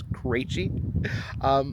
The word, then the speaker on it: Krejci: It is, my family pronounces it Krejci, although the correct Czech pronunciation is Krejci.